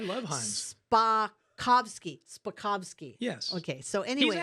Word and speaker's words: Spakovsky: Spakovsky.